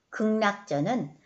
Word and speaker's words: 극락전: 마당 모래를 밟으며 갔다 여기에서 극락전은 어 표준 발음법 식후 항과 2항으로 극락전으로 발음을 해야 됩니다 극락전 마당 모래를 밟으며